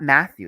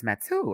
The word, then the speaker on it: Matou: It's not Matthew, it's Matou.